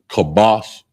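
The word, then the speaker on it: כבש: Oh, I spell it. Salia for lamb. Kabash is k a b a h.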